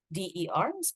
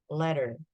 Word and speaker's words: ladder: There's a huge difference when you say ladder and leader. So leader, the LEADER, mimpin. But this one is ladder. Tangga, so jenjang karir. Ladder, it's the sound, ladder. Okay. Not leader, ladder.